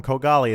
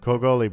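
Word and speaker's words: Kogoli: reason whatsoever COGO li i previously called him co golly and ordinarily I would print correct the pronunciation and apologize to him but I hate him so I don't care Co goalie birthplace dragon roost Island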